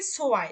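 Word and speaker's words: zwei: যখন এ এবং ই একসাথে বসতেছে, মানে এই যে এ অর্থাৎ ইংলিশে তাকে বলতেছি আমরা ই, ইটা যখন জার্মানের এ, এই যে এটা এবং এই যে আই অর্থাৎ ই, এই দুটো যখন পাশাপাশি বসতেছে তখন তার উচ্চারণ হবে আই।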